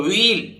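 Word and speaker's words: wheel: है जैसे double E तो व्हील याय एच साइलेंट है ठीक है स्लीप सोना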